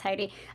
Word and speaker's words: Heidi: a hand raise uh haiti so sorry if i mispronounced your name yeah no that's fine it's heidi um actually i do